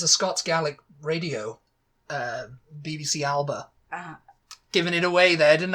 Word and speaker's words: Alba: Now, did you do the Scottish pronunciation of Alba?